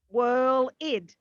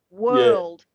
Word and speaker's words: world: lid this is what i hear constantly with my students constantly i hear whirling whirl id there is no id in world there is there's world it's only world war no worlds worlds